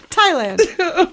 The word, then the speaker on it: Thailand: round trip ticket to Thailand how do you pronounce it Thailand there there's an AG in there and I